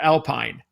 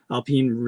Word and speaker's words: Alpine: So you're saying some people pronounce it Alpine? Yeah, generally the French will say Alpine. Alpine. It is a French company, French car manufacturer.